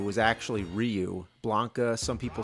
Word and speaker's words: Ryu: Yeah, back then, nobody knew how to pronounce the names. It's like in Street Fighter. We didn't know Ryu was actually Ryu.